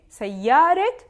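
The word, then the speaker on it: سيارة: rules to it it is feminine it ends with the marbuuta but i'm pronounce it ha if i want to put it in idafa i will have to pronounce it and after i will vote for example a name sayaret john because it is the first noun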